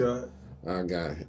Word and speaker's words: Sagat: Let's see, Saget or Sagat. How you say it? Sagat.